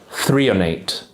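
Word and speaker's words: threonate: magnesium I really recommend is called magnesium L 3on8 that's magnesium l308 and it's spelled t-h-r-e-o-n-a-t-e magnesium 3 and 8 can actually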